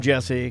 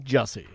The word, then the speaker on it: Jussie: Do not call him Jesse. Call him what I call him, Jussie.